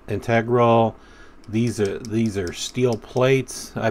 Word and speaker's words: integral: M390, and it's an integral knife. You probably wanted me to say integral, but I think the correct pronunciation is integral.